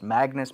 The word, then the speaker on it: Magnus: highly recommend that you get an all access Magnus membership if you can't hear what I'm saying or you can't make out the pronunciation right there take the first letter of